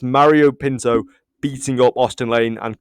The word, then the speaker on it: Pinto: Petrino, is it? It's not Petrino. Yeah, no, it's not. Okay, right. Pinto, right.